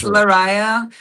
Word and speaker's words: Lariyah: Did I pronounce it okay? Because no worries. It's Lariyah, and the band's name is DieveNoire.